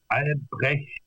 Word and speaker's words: Albrecht: No, it's Albrecht. Albrecht. So the sound is difficult, and the R sound is also different from the American R, and then you have Dietrich, another R and another sound.